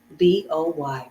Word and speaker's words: boy: at the end but when you pronounce the O and the Y together it has that oi sound in this word just like you're saying the word Ahoy but this boy is